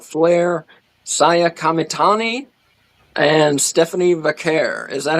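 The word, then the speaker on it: Vaquer: Uh, other vote getters for female wrestler of the year, Charlotte Flair, Saiia Kamitani, and Stephanie Vakair.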